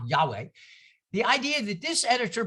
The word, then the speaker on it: Yahweh: who presents yahweh yeah you pronounce it yacht with a j for german ja yahweh the idea that this